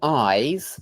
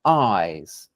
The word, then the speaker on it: eyes: by different consonant sounds but when you listen to how people actually say them eyes ice it's really The Vow that seems different in eyes it seems long in ice it seems faster compressed something like that so